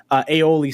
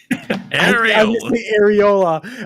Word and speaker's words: aioli: Areola. I was going to say, Melina, I have an inside joke where whenever you want aioli sauce, I always say areola because I mispronounced it the first time.